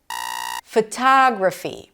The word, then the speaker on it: photography: Photography. Primary stress is on the second syllable. Tada. Longer, louder, higher in pitch. Versus photography. You say photo but photography. You don't say photography.